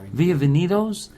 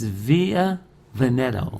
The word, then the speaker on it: Via Vetto: playing via Vitos yeah you always say the name wrong via Vitos it's via vetto VIA vetto so so